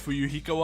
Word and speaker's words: Fuyuhiko: My first name is pronounced Fu-Yu-Hi-Ko.